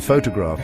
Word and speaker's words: photograph: In photograph, it is on the first.